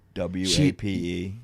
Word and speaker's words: Wape: She said W-A-P-E. Wape. She says wape because he could not pronounce his R's.